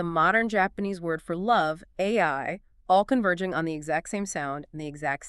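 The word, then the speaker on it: 愛: It's pronounced AI.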